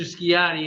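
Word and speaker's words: Sciotti: name yeah it's uh it's Mr skiatti it's that's the last name it's s it's in Sam c-i-o-t-t-i pronounce it just like it looks you can call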